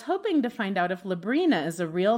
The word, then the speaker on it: Librina: My name is Librina, pronounced like the teenage witch, but with an L.